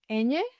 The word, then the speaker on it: eñe: Eñe has a special sound. A little bit like the ny sound in English.